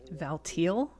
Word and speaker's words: Valtiel: Valil. You're lying. I guess that's a legitimate pronunciation. I always said Valtiel, but there was never any accident.